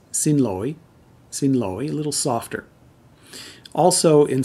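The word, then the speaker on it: xin lỗi: excuse me in vietnamese in the north it's pronounced sin loi sin loi and in the south it's sin loi a little softer also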